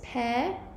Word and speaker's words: periosteum: The pronunciation of the term is periosteum.